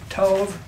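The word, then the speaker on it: טוב: And they spell it T-O-B, but it's like T-O-W, but it's really like with a V, Tov.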